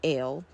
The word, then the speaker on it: AL: Both editions were titled by Crowley AL, pronounced L, value 31, so therefore Liber 31 is the manuscript of the Book of the Law called L, not to be confused with Liber 31 by C.S.